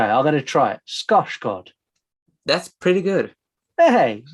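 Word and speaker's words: Skarsgård: ignorance of other languages, but it's the correct pronunciation is Scotch Gord. Okay, I'm going to try it. Scotch god. That's pretty good. Hey. Hey Mark, you're 10. Scosgard.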